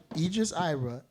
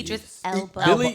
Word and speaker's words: Idris Elba: Idris Ibra. Hello, ladies. Idris Elba. Okay, Billy so pronounce it right.